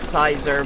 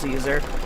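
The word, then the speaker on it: Siser: um Caesar it looks the word looks like Sizer but apparently it's pronounced Caesar I'll probably always say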